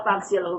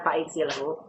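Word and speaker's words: فاغسله: Kenapa fagsilhu bukan fa'iksilhu? Karena hamzah wasol di tengah tidak dibaca. Karena iksil fi'il amr hamzah wasal tidak lagi dibaca harokatnya.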